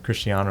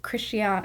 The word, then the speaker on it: Cristiano: figur it be Lano or Lono Messi or Cristiano Ronaldo or something oh yes okay I've heard those names and I know who Christian how do you say it say it Cristiano